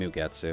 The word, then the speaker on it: Mugetsu: I wanted to watch this little situation more, and Mugetsu. It's probably just Ge. It's probably not J. Mugetsu is kind of the normal way this is pronounced, but If I recall correctly, she's also just an excessively powerful maid.